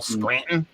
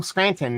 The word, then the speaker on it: Scranton: If someone's from Scranton, they pronounce it Scranton. There's no T. It's all Scranton. So if someone came in and they said, "Oh, hi, I'm from Scranton," and be like, "No, you aren't, motherfucker.